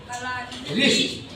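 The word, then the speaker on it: wrist: लिए लिखने के लिए डब्ल्यू आर आई एस टी लिखेंगे लेकिन पढ़ने के लिए क्या पढ़ेंगे रिस्ट बाद के अक्षर से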